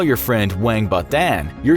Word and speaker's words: 王八蛋: If you want to insult someone and their momma in one swoop, you'd refer to them as "王八蛋" (pronounced WANG-ba-dan), which roughly translates to "sea turtle egg."